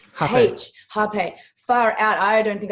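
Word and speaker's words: hapé: And I feel like what happened with the Aya ceremony, I also had rape, and I think how do you pronounce it? Almost like an H. Hape.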